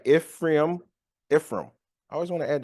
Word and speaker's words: Ephraim: So Chronicles 7, it focuses on the descendants of Ishkar, Benjamin, Naphtali, Manasseh, Ephraim. I'm saying it right. Ephraim.